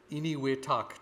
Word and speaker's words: Enewetak: And it's something called Eniwetak Atoll. And it's spelled Enewetak.